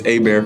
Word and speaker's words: Hébert: And I said it right because I'm from Louisiana, so it's Hébert for anyone who says Herbert. Because I know I've seen interviews with you where people have said Herbert, and I'm like Hébert, Hébert, and I knew that.